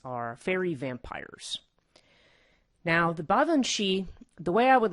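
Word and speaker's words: Baobhan Sith: the a group of fairies known as the bhavan shi now the baba and shi are scottish uh in origin and the the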